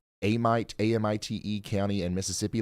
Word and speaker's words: Amite: do you pronounce Amite Amit County and Mississippi like the locals is it Amite or AIT it's pronounced Amit County all right thank you